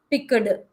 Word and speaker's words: picked: to tell is that whenever we have e d at the end of any word we will not read it like this picked no d sound should not be that much it should go down you you make the sound as t rather than doing d